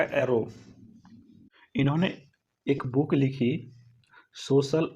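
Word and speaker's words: Aron: हैं वह रेमंड अरा स्पेलिंग पर यहां आरोन लिखा जाता है लेकिन बोलने में क्या आएगा अरा इन्होंने एक बुक लिखी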